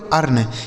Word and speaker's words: earn: इसे पढ़ा जाएगा दोस्तों अर्न।